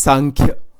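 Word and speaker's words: सांख्य: Sankhya Vichar, S-A-M-K-H-Y, S-A-N-K, you can use an M or an N there. But it is pronounced as Sankhya.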